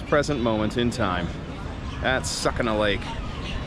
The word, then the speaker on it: Sukhna: moment in time at sucking a lake it may also be pronounced Suk a lake but sucking a lake sounds pretty good doesn't it we're going